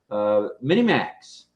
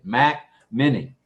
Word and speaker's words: Mac Mini: cell phones, and her brand new to us Mini Max or Mini Mac. Mac Mini. Like I said, Mac Mini. I got an elbow again. Mac Mini is the correct pronunciation of that.